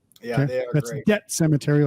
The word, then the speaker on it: Debt Cemetary: Debt Cemetery, like DEBT, not Dead Cemetery.